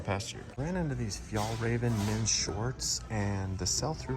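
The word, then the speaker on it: Fjällräven: So look for that little fox emblem, and it is a little hard to pronounce, but it is Fjallraven.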